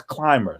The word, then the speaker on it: CLMBR: it's called you is you pronounce it as climber c-l-m-b clmbr and what it is